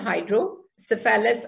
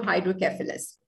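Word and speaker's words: hydrocephalus: Clinical condition जो आएगी that is called हाइड्रोसेफेलस, और यू can pronounce it टू हाइड्रोकेफेलस।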